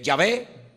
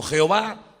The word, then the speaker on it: Jehová: Y entonces se puede con esas vocales añadidas al nombre se puede pronunciar como eh Yahé, se puede pronunciar como Jehová o se puede pronunciar de muchas formas.